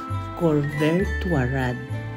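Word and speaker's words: La Couvertoirade: the place called B imara pero ang pronunciation diyan ay corver warad corver later in the 15th century at the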